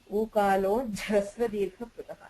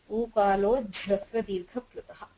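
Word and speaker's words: ऊकालोऽज्झ्रस्वदीर्घप्लुतः: Ukalo jhasra dirgha prutaha. You have a j and a jh because of a sandhi. Ukalo jhasra dirgha prutaha.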